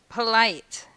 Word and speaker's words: polite: A few two-syllable adjectives are exceptions to this rule and are stressed on the second syllable. Here's three examples: "poLITE," "exACT," and "aWARE."